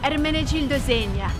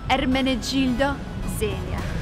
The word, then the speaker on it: Ermenegildo Zegna: Ermenegildo Zegna. Because I've learned Italian for almost a year, and guess what I've learned? All of the brand names. Ermenegildo Zegna.